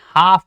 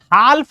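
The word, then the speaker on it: half: यहां देखो क्या है सर एफ से पहले अगर आपका क्या आ रहा हो एल आ रहा हो एल आ रहा हो एल तो फिर ये साइलेंट हो जाता है चुप यानी इसको हम क्या पढ़ते हैं हाफ पढ़ते क्या पढ़ते हैं बच्चों हाफ हाल्फ नहीं पढ़ते एल चुप है वॉक डब्ल्यू ए एल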